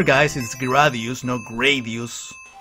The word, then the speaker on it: Gradius: job yeah Darius sorry Darius what with this mispronunciation of things remember guys in ski radius no Gradius now here professor Chilean retro gamer teaching